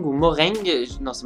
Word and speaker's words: Mojang: Donc bien sûr, c'est le développeur, donc c'est Mojang ou Moreng. Non, c'est Mojang, je crois que ça se prononce comme ça.